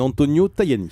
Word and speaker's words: Antonio Tajani: Votre invité ce matin, le vice-président de la Commission européenne, Antonio Tajani. Vous l'avez bien prononcé.